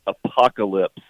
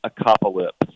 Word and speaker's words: apocalypse: of great agitation hey the word is apocalypse not a cop ellipse oh thank you apocalypse